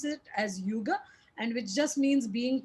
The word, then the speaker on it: hygge: yuga so it's written as hygge but they pronounce it as yugo and which just means being together creating small